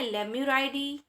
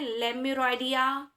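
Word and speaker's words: Lemuroidea: ठीक है, कुछ लोग इसको प्रोनाउंसिएट करते हैं लेम्यूराइडिया, टार्सियोइडिया एंड एंथ्रोपॉइडिया। सो कोई दिक्कत नहीं है, ठीक है, आप बोल सकते हो दोनों ही, लेकिन सही जो है वो ई ही होता है, लेम्यूराइडी।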